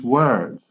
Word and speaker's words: word: Usually OR is pronounced or, like form or for, but in this case, we are going to pronounce like a, okay, with all of these words, like, for example, word, work, world, words. worth, worth, valor, worth, and worm, gusano. Be careful, it's not warm.